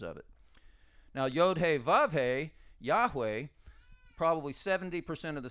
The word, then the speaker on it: Yahweh: to to America but it's Yeshua and Yahweh or Jehovah or however you want it's it's going to have the Y sound not the J sound so there's rules of